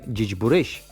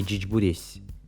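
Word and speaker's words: Зечбуресь: Мы говорим «джичбурещ», а не «джичбуресь».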